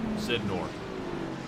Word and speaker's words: Sidor: say his last name sidor there you go man like I said that Sy trips me up every time like I said I I keep thinking like synthetic oil like sin and